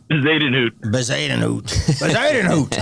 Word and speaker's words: Bezuidenhout: And then that Jason Christian, pronounce it again for me. Bezuidenhout.